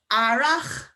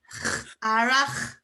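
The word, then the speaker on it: earrach: So that CH is like clearing a fly from your throat. Arach. And if you can't get that sound, it's quite like the Arabic as well. If you can't get that sound, go for a H. So for example, arach. That's better than please do not do a C, a hard C or a CK noise from the CH, okay?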